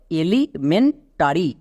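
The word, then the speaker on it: elementary: এখানে অনেকে ভুল করেছো। এর উচ্চারণটা ইলি হবে না। এর উচ্চারণটা হবে এলি। Next ME এন মেন। এমই এন মেন। এবার চলে আস একদম শেষে। এ আর Y tarry T এ আর Y tarry not টরি তাহলে পুরো ওয়ার্ডের উচ্চারণ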